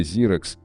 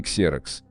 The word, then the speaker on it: Xerox: Удивительно, но на самом деле Xerox, а не Xerox. В Штатах начальную букву X всегда читают как Z.